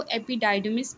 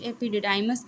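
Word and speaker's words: epididymis: कुछ लोग इसको एपिडाइडमिस भी प्रोनाउंस करते हैं। कुछ एपिडिडाइमस भी प्रोनाउंस करते हैं।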